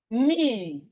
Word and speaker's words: knee: beginning of a word, whenever we have K and N at the beginning of a word, the K is silent. And we have it in words like knife. Knife, the K is silent. Knee, knock, no, knuckle, knuckle,